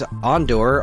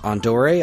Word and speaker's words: Ondore: And then I'm like, all right, there's Ondor, although apparently that's pronounced Ondore.